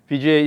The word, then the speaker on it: Vijay: Vijay Singh Vijay Singh Vijay is two syllables so it's easy to exaggerate yeah yeah so uh